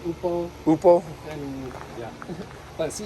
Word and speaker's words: upo: It's spelled O-P-O. Oh, but Opal? they pronounce it Upo.